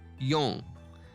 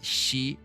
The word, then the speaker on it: 四: don't know the kanji, but who know the pronunciation, you might get I'm giving you a clue. 4、 Yon. This is also called as shi.